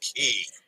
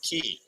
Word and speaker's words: quay: Quay is pronounced key, just like coal. So Quay is pronounced key.